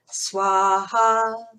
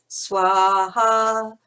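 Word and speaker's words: स्वाहा: When you see a W, it's pronounced somewhere between a V and a W. Buva. Swaha. Vayawe idam na mama. Swa. So you aspirate the end. Swa. Because we're pronouncing the H.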